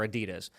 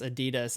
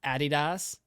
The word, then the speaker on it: Adidas: The folks across the pond, this drives me nuts, pronounce Adidas as Adidas, and it drives me nuts. I'm like, no. No. Yeah, why did you stress it that way?